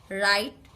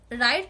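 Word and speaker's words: write: অর্থাৎ রাইট, হোয়াইট, রাইট যখন লিখছি ডাব্লিউ এর উচ্চারণ হচ্ছে না, বিকজ আর আছে।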